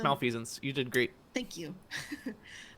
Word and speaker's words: malfeasance: Yeah, it's malfeasance.